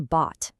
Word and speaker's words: bought: Now compare that to bot. That's a totally different thing. It's just one single open sound. You just drop your jaw and say ah.